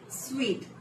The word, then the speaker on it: suite: Suit room, suit. That is incorrect. The actual pronunciation of this word is suite. That's right. It's a suite room, not a suit room.